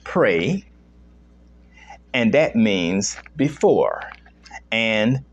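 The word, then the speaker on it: prae: Latin word uh pray which is spelled p-r-a-e pronounced pray and that means before and cognition which is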